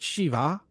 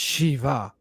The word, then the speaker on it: Shiva: body she it's not Shiva it's Shiva right listen to the pronunciation she there's an H on the end of it Shiva and Sh so it's not shiv it's Shiva Shiva so they're both very